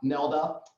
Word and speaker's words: Neilda: We have Neilda, pronounced like Zelda, from MindGlow, also done incredible things, and actually really explore some topics.